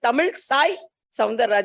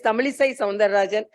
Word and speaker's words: Tamilisai Soundararajan: So he also told, so this is, most of the people, when I went to Telangana also, they pronounced me as Tamilisai Soundararajan. It's Tamilisai Soundararajan.